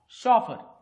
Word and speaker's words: chauffeur: CHAUFFEUR spelling बघा, CHAUFFEUR शॉफर.